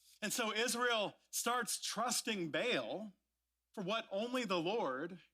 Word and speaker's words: Baal: He's like, it's pronounced Baal, like he was a Klingon or something. We're going to say Baal just for convenience, if that's all right with you.